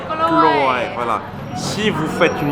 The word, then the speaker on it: กล้วย: ใช่ใช่ใช่ Voilà, parce que on dit how to say banana in กล้วย Kluai. Kluai. Voilà. Si vous faites une mauvaise prononciation, ça va donner un truc, voilà, j'ose